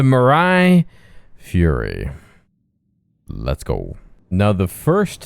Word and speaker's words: Mirai Fury: I keep saying it wrong. The Fluffy. The Furry. The Mirai Fury.